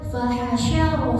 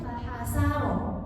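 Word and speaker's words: فحشر: surah An-Naziat ada yang fahasyar fana itu kakak tadi bacanya fahasaro fahasaro kalau sa itu jadinya sin ya bukan sy fahasyar terus akhrojal mar akh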